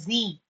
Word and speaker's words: Z: word after the alphabet after y Zed I think most of us would have studied like that only Zed is the right pronunciation that's what we studied but Z is also a right pronunciation according to American English Okay so for American